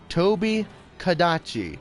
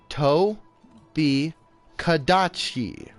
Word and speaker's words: Tobi Kadachi: Toby Kadachi, not Gadachi.